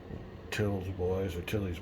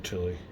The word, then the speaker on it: Tilly: Now, I've heard this pronounced both ways. Tilly, I think on Stuka Joe's, he called him Tilly, and Tills on one of these other ones. But anyway, we'll be calling him Tilly, I guess.